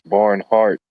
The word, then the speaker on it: Barnhart: farming and stuff, but it's barn heart except it's it's spelled H A R T instead of, you know, like heart like in your body, but still barn heart.